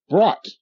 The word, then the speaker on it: brought: in your book bag and it's like you brought b r o u g HT brought your